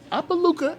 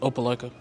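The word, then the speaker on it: Opelika: skylin holstick he's from uppaluca alabama it's pronounced oppaleca i knew i was going to mispronounce it but you know what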